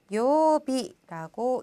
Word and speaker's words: 曜日: 요일은 어떻게 읽었죠? 그렇죠. 요비라고 읽고요.